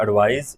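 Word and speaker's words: advise: The report एडवाइज, इसका pronunciation में भी ज जाएगा, सी में स आता है, एडवाइस, और ये एडवाइज।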